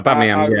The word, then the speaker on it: Aubameyang: But like, if I was to say honestly, it'd be Özil, Lacazette, and I'm going to try and pronounce his name, Aubameyang. Is that right? Yeah, Aubameyang.